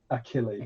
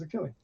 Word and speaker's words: Achilles: figured it out right it's achilles killing now isn't it great that i was saying it right this time because otherwise that would have been really embarrassing yeah it's a killing uh he's he's got